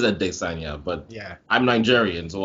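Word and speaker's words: Adesanya: no one knows apparently israel assania's name is supposed to be pronounced adessanya it is a desanya but yeah i'm nigerian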